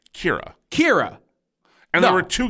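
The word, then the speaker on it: Ciara: a r a anyone reading that would say Sierra Siara Sierra Sara let's Call the Whole Thing Off yeah but it was actually pronounced Kira Kira and there were two Kira in the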